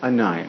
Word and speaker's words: Anaya: And you pronounce it? Naya. Anaya.